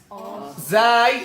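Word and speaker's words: ز: Say Zai, same thing. Zai, same thing. It is like the seen. Say with the zai, you just bring the teeth a little bit even closer.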